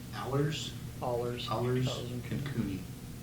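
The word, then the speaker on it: Ahlers: I would make a motion to sign the waiver from, is it pronounced Allers? Allers.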